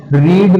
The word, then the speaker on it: read: The father has, रीड must पढ़ना होता है दोस्तों, लेकिन रीड की सेकंड और थर्ड फॉर्म होती तो स्पेलिंग वही है, बट हम उसे रीड नहीं रेड बोलते हैं।